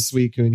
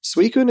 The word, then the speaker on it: Suicune: So I was struggling really hard with Suicune here, especially with just the 10 balls.